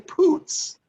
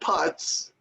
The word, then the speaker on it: Putz: For example, it's J.J. Poots, not Putz, and it's Sean Figgins, not Chone Figgins.